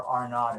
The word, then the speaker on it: R naught: If you want to be sound fancy like an epidemiology professor, R naught is how they say it.